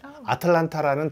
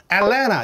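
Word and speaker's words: Atlanta: 되게 경악할 수밖에 없어요 뭐라고 발음 하냐 엘나 이렇게 발음하는 거야 미국 사람 아니 애틀랜타가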